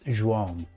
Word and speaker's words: João: So Joao, so is it Joao? João. I've been to Porto. I know a friend. I can say that I can fairly pronounce it okay. It's João. João.